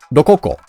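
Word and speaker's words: Roccia: Here we have Rochia. How do you say it in Japanese? Lokoko.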